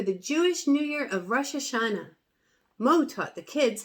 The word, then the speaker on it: Rosh Hashanah: My family is preparing for the Jewish New Year of Rosh Hashanah.